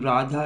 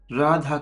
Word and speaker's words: Radha: Radha comes from two syllables, R-A, Ra, D-H-A, Tha.